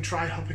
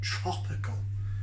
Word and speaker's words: Tr-hopical: pronounce this correctly tropical a lot of people were saying try hopping called treehoppy calls no i there gotta say new yorkshire accent it's tropical actually if you said yorkshire